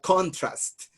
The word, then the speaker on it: contrast: And I'm going to write contrast. And I both listened to it, British and American, and both of them said contrast.